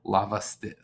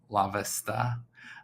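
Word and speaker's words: Lavastida: uh but brian um i butchered his name the first time i did it lava st lavista uh is going to be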